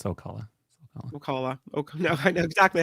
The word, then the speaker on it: Ocala: Ocala. No, I know exactly how it's pronounced.